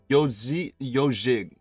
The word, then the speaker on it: Ezhik: Uh, it's pronounced yojig sounds like garage. Yojig means a small hedgehog.